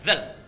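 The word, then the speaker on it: ذ: Itu ternyata yang paling mudah diucapkan itu zal, bukan dal. Zal. Karena itu disebut harfu takhfif yang ringan. Zal, zal, zal, zal. Seperti sa, ada 2 huruf yang lidahnya digigit sedikit.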